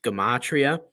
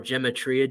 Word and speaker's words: gematria: For example, biblical Hebrew, biblical Greek, Koine Greek, they have this concept known as gematria or gematria, depending on how you pronounce it.